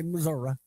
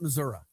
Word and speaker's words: Missouri: Now, I have a friend who likes to say Missouri, and I've given him some crap for it. We're not Missouri. You look at the word, we're not French. We don't pronounce things differently. It's Missouri. Like, if you look at the word broccoli, it's broccoli. It's not broccula like Missouri. It ends in an I. It's Missouri. However, you know, there was